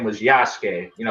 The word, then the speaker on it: Yasuke: samurai his name was yasuke you know sasuke from naruto yeah replace the s with the y that's how you say his name yeah oh i didn't